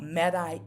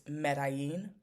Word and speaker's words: Medellín: we are talking about Medi in Colombia which is the Spanish pronunciation if you are interested in the English pronunciation it's medin colia and if you